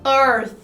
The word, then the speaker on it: earth: Earth, Earth. earth, tá bom? É um Fzinho com a língua presa assim, então earth, tá vendo?